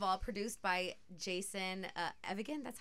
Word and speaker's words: Evigan: yeah first of all produced by Jason uh evigan that's how you say it who's worked with